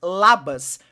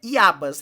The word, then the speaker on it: Iabas: Eu pronunciei acho que 2 vezes Labas, mas é Iabas, né? O L e o I, eles são meio parecidos. É Iabas o nome do nome social, eu falei Labas, fica aí a correção.